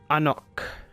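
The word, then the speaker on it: Ahnok: Today's word of the day is Anok, meaning hello. It is spelt A-H-N-O-K, which I'm sure you've already seen on the screen.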